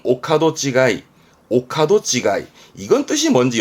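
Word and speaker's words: 御門違い: 발음은 오카도 찌가이.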